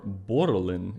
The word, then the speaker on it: borrelen: For the Dutch word of the week, the word is borrelen, or borrelen, if you can roll your R, which I can't do really that well, but let's try it again. Borrelen.